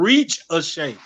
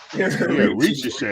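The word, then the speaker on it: Risacher: His name is gonna be called Reach a Shake. Reach a Shake. Just don't pronounce the R at the end.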